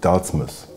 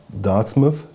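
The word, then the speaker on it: Dartmouth: Das ist eine Christopher Ward C65 Dartsmith. Und das ist wirklich, ja, es wird wie Plymouth ausgesprochen.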